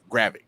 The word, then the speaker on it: Gravik: Gravik.